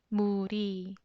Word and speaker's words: 물이: 물 ends with 리을 받침. And when there's 받침, should you use 이 or 가? When there's 받침, 이 with a circle. The circle is silent 이응, it's empty place. So 리을 sounds floats into the empty place and make sound 리, 리, 물이.